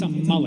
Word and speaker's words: Amalek: It's not Amal. It's a malle.